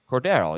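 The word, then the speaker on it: Cordarrelle: not you that's it cordurelle Patterson that's how you pronounce it no it's Cordero cordarrell yeah so I said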